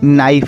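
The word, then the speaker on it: knife: आई एफ ई नाइफ बच्चों याद रखना नाइफ में के साइलेंट है आगे जो के लगा हुआ है वो साइलेंट है बच्चों अगला है स्पून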